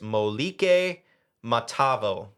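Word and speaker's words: Moliki Matavao: Uh, so it's pronunciation is there. It's Malik Matavo.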